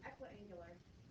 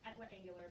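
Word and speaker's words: equiangular: the angles are equal there's no l in it it's equ angular I just say it wrong all the time so I apologize I me it's pronounced equ angular but is it okay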